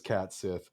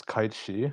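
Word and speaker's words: Cait Sith: Vincent is about as cool as Cat Sith, but you know, you can. It's Kite Shi. Thank you very much. That's how it's pronounced.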